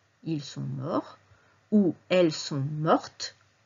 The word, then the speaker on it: mort: pluriel on dira aussi il est mort attention on ne prononce pas le thé il est mort où